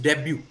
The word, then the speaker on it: debut: जैसे मैंने कल बोला था DEBUT इज डेब्यू, RAPPORT इज नॉट रैपोर्ट, इट इज रैपो.